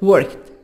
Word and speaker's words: worked: Worked. D. We'll pronounce it like ta sound.